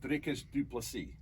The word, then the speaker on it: Dricus Du Plessis: Okay, I'm going to go with Dricus Du Plessis.